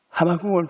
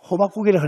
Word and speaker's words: 하박국: 난 옛날에는 하박국을 발음을 잘못하다가 호박국이라고 합니다.